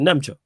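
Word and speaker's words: Nmecha: I can't even pronounce my man's name. I thought he looked good against Newcastle. Is it Nemcha? Yeah, Nemcha, yeah.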